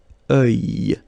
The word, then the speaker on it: œil: Strange combination of vowels here, okay? And then you will get the sound and then y. Œil.